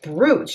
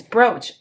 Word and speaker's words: brooch: i'm gonna do just bruce and see what they have that's broke it's brooch i say it wrong because i say it like i see it okay so what vibe